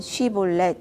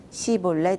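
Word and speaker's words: 쉽볼렛: 그가 아니다 라고 하면 그들은 쉬 본래 이라고 말해 보라 했다 하지만 에브라임 사람은 언제나 시 본래 이라고 하여 제대로 발음하지 못했다 그러면 그들은 그를 잡아다가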